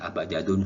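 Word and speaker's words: أبجد: Jadi membacanya abajadun, hawazun, hatoyakun, lamanun. Nah, kenapa kok alif, ba, jim, dal, bukan alif, ba, ta, sa, jim?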